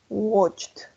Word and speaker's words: watched: But here, what is red, we're going to say walked, watched, worked. Yes, that's like a T. Como una T.